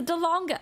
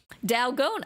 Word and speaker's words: Dalgona: Yes, the Dalonga. Yeah, Dalgona. Oh, Dalgona.